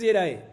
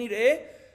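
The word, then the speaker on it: יראה: De todas maneras, vemos aquí que otra vez, repito, la pronunciación es Yerae. Y se escribe Yerae así también, está bien escrito, solo que lo puedes decir también Yirae.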